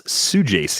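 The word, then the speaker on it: Saggese: how about another Cardinal Thomas suji is the pronunciation I just saw that coming out of whatever the Cardinals FanFest is that's how you say that Su J yep Sue j s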